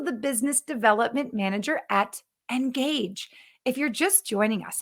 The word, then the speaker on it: Ngagge: And most importantly, if you can't tell from our name, Ngagge, which is spelled cleverly, Ngagge, sounds like engaging, engage with your customers, spelled differently.